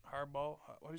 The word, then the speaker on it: Harbaugh: I'm pretty sure what Jim har harb is Harbaugh what do he say